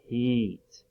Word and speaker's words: Pete: P, p, p. Eat. And that's kind of a silent E at the end. Let's go ahead and blend it. Pete.